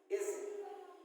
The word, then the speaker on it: edge: तो इस तरह से बहुत सारे वर्ड, जैसे आप देख लीजिए EDGE, इसको क्या पढ़ेंगे? इज, है ना। तो इसमें जो डी है, ये डी क्या है? साइलेंट होता है।